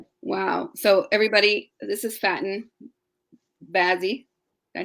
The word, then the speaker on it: Faten Bazzi: So everybody, this is Faten Bazzi.